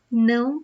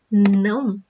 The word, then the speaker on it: não: Do you know how to pronounce the word não? That means no. And the sound is like this. Não. You should feel the sound in your nose because it's a nasal sound.